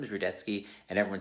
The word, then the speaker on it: Rudetsky: but you know what my last name is rudetsky and everyone says rudensky so no one knows how to pronounce anything in the world anyway hang in